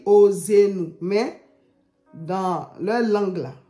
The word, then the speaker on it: Hoseenou: Normalement, on doit dire Ossenu.